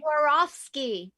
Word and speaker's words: Swarovski: geraldine carol can you tell us how to pronounce that swar swarovski swarovski oh i like you swarovski the weinskey oh